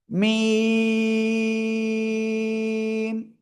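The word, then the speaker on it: ميم: এই যে মিম, চার আলিফ টেনে পড়তে হবে, মিম।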